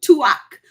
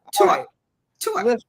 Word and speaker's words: Tuach: no I'm telling you not tuak but tu tu I love you you